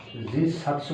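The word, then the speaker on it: じっさつ: কি হবে যু 700 তো উচ্চারণটা যুৎসু হওয়ার কথা যুদ্ধ সাতস্যু হওয়ার কথা বাট ওরা যু বলে বলো না জুকে জি বলে তাহলে জি সাতসী জি সাতস্যু মানে হচ্ছে 10 টা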